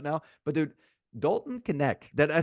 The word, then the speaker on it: Knecht: I know I'm going a little guard heavy right now, but dude, Dalton Knecht. Did I say it right? Knecht? Yep. Knecht.